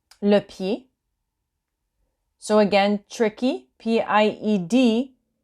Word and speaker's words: pied: Next slide, we have the foot in detail, so le pied. Le pied. So again, tricky, P-I-E-D, you don't pronounce the D, and you pronounce it as pied, although it's not written